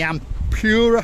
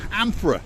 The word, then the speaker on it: Amphora: This place here, the Ampura Hotel? Amphora.